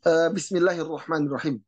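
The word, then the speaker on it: بسم الله الرحمن الرحيم: Kemudian dalam Bismillahirrahmanirrahim, Bismillahirrahmanirrahim ya, ro hirrah, jadi haknya ditipiskan. Jadi ketika ro tebal, ro hirrah ya, rahmani. Bismillahirrahmanirrahim. Ya. Bedakan antara tebal dan tipis. Ya. Antara ro tebal. Bismillahirrahmanirrahim.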